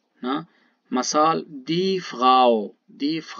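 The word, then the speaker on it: Frau: اگر آ و او چیر پشتا بیاین اشی تلفظ بیتیم آو آو نه؟ مثال دیف غاو، دیف غاو، دیف غاو یعنی جنین، یعنی زال، زال و بول، حالا خانوم نه؟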